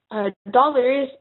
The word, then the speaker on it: dollars: as in French, but we are never pronouncing the S at the end when it's plural, so it's dollar. And yes, there are 2 L's, but we only pronounce it as one, so dollar.